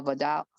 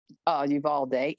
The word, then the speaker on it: Uvalde: Or Vidal. I'm not saying it right, but y'all got it. Uvalde, yeah. Uvalde. And then how would you approach the issue of gun accessibility and of domestic terrorism?